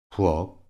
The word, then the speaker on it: 부엌: 'ㄱ, ㅋ, ㄲ' se pronuncian como 'ㄱ'. Escucha cuidadosamente. ‘꼭 – 부엌 – 겪다’ A continuación, 'ㄷ, ㅅ, ㅈ, ㅊ, ㅌ, ㅎ, ㅆ' se pronuncian como 'ㄷ'.